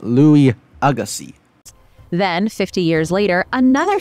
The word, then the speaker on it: Louis Agassiz: it was actually first discovered in 1822 but was re-examined in 1843 by Swiss scientist Louis Agassiz it's pronounced Louis Agassi then 50 years later another set of Bones